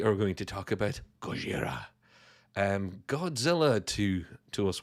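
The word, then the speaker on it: ゴジラ: to to us westerners but I prefer the original pronunciation which I can never get right but it does sound cool when it's said by a Japanese person and they say gochiara really menacing I love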